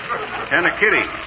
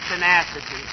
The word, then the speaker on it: tenacity: Tenikitty, see? Says so right here. McGee, Tenikitty. that word, dearie, is tenacity. Oh, well, I know that.